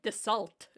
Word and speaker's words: Dassault: I always said Dassault. The L and the T are silent. Huh. It's just the so.